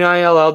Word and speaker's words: Ill: It's just ill, Eddie. No way. It's not Illinois. Ill, I-L-L.